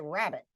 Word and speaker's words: rabbit: Is it rabbit? Do I say rabbit or do I say rabbit? Oh, I say rabbit. First syllable stressed.